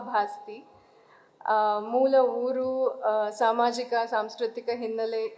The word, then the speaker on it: ಭಾಸ್ತಿ: ಬಗ್ಗೆ ಹಲವು ಚರ್ಚೆಗಳನ್ನ ಕೇಳಿದ್ದೇನೆ ನನ್ನ ಸರ್ನೇಮ್ ಅನ್ನು ಭಾಸ್ತಿ ಬಸ್ತಿ ಬಸದಿ ಬಸಂತಿ ಅಂತ ಏನೇನು ಬೇರೆ ಬೇರೆ ಸ್ಪೆಲ್ಲಿಂಗ್ಗಳಲ್ಲಿ ಯದ್ವಾತದ್ವ ಉಚ್ಚಾರಣೆಗಳಲ್ಲಿ ಹರಡಿವೆ ನಾನು ದೀಪ ಭಾಸ್ತಿ ಮೂಲ ಊರು ಸಾಮಾಜಿಕ ಸಾಂಸ್ಕೃತಿಕ